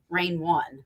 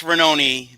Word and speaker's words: Rainone: don't know now i always i always say reign one but i know it's renown right that's how we say it it's ranoni but i go by i go by renown